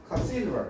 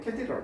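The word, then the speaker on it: cathedral: 캐스드럴 이건 카시드럴 이렇게 되거든요. 근데 액센트가 뒤에 있어요. 그래서 근데 보통 사람들이 캐티드럴 그렇게 발음하더라고요.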